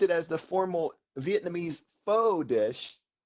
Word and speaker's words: pho: Well, I think I've exposed myself as knowing nothing about this because I say pho, it's pho.